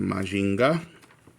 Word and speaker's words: Mazinger: I knew him as Mazinger Z. In Japanese, they pronounce it Majinga.